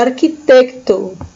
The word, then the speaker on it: arquitecto: e aqui no meio a pronúncia é bem parecida Mas não é igual a arquitecto arquiteto certo Granjeiro Granjeiro